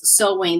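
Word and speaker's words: Samhain: it through my slide but the pronunciation is so and that's why like they used to say the pronunciation is sewing they used to call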